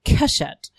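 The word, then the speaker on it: קשת: And if you put those three together, you pronounce them Keshet, which means bow.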